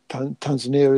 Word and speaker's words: Tanzania: Well, here's a problem that some people have in Tanzania. Is that the right pronunciation? Tanzania is correct.